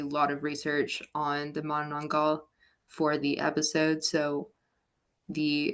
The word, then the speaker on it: Manananggal: How do you pronounce it? Manananggal.